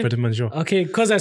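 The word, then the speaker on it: Prêt à Manger: Prêt-à-Manger.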